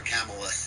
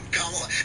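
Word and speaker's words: Kamala: I always love that I called her camela instead camea and then they go on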